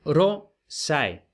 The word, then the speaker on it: rosae: Y entonces, en el caso de rosae, vemos que si ae es un diptongo, es rosae. Y si ponemos el acento en la A, estaremos acentuando la última sílaba.